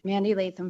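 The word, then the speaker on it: Mandy Leytham: Mandy Laam for the record. My name is spelled M A N D Y L E Y T H A M.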